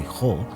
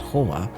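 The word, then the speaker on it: חוה: In fact, Ho is, and I say Ho because Eve's name is actually Ho, not Hoa, but Ho is the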